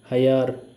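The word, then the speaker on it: hallar: match पार्टीदा match कमरा ए के ऊपर एक्यूट एसेंट है फर्स्ट ए के ऊपर कमरा camera हयार find double L वाई की तरह प्रोनाउंस होगा हयार फाइंड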